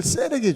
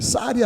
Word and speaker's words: 셀: 여러분들 셀에게 주시는 거예요. 예. 발음을 잘하셔야 돼요. 쌀이 아니라 셀입니다. 셀.